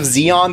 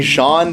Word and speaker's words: Zeon: in the West a lot of the like pronunciations and stuff are off like instead of Zeon they'll keep saying Sean because of like bad romanization they say zach